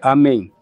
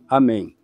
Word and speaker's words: Amen: No Islã, é pronunciado Amin. Mas, quando a Bíblia foi traduzida para o latim, não existe o e longo em latim. Então, foi escrito A-M-E-N e as pessoas começaram a pronunciá-lo Amém. Agora, isso tem um efeito bem diferente na fisiologia.